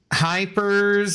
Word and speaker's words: Hypers: Yeah, it's pronounced Hypers, if that makes sense.